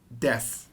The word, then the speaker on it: desu: here's a major concept this is called death even though it's written as desu it's gonna be pronounced like desu now desu means is